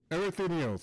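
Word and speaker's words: Erichthonios: Erythonios! Okay, that's... And with your death, none will be left to stop me. Erythonios. Okay, that's how you pronounce his name.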